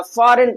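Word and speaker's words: foreign: यहां पर देखिए एन है और एन से पहले क्या आया है? जी आया है। क्या आया है भैया? जी आया है। ये जो जी हमारा क्या हो जाएगा? साइलेंट हो जाएगा। यहां पर हम क्या पढ़ेंगे भैया? फॉरेन पढ़ेंगे। जी को प्रोनंसिएट नहीं करेंगे।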